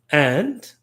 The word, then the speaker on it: et: synthesis the conjunction is and and that's the principal conjunction of Duluth and gwataris ontology and which is ET pronounced a is pronounced in French the same as is which is EST pronounced a the same pronunciation but